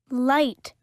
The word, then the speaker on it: light: Light, light. Knock, knock. To listen and say and number then read. لدينا نطق حرف الS مثلا Z نعطيها رقم 1